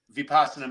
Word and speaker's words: Vipassana: Vipassana? Am I saying that correctly? Vipassana meditation, yes.